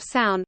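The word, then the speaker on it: Samhain: ancient celtic festival of sound pronounced sour in the celts who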